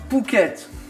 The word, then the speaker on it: Phuket: connaître un essor touristiques phuket mais ça s'écrit ph souk est très très